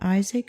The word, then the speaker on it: Isaac: yahweh told abraham in isaac shall thy seed be called we say isaac but the hebrew accents the last syllable perhaps this is why